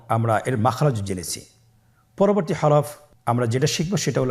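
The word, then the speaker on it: ح: পরবর্তী হরফ আমরা যেটা শিখবো সেটা হল হা। হা এর মধ্যে কোন নুক্তা আমরা দেখতে পাচ্ছি না। হা হরফটি কিভাবে উচ্চারিত হবে? হা হরফটি উচ্চারিত হবে কন্ঠনালীর মধ্যখান হতে।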